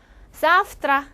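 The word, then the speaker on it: завтра: 사프트라, 자, 사프트라라고 쓰고요. 배는 F 소리가 납니다.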